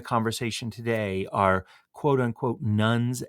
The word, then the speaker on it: nones: today are quote unquote nuns and duns um just because that sounds differently to our ear particularly when we're thinking about religion um than it is spelled I thought maybe just